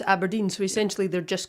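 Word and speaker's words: abrdn: yes a burden yeah you're supposed to pronounce aberdeen so essentially they're just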